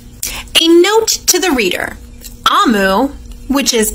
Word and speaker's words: Amu: A note to the reader, Amu, which is pronounced Amu, is the Igbo term for queen.